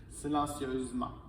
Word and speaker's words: silencieusement: et on ajoute et on ne prononce pas le E qui est ici silencieusement progressif devient progressive on